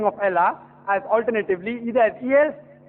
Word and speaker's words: Allah: The right pronunciation is Allah.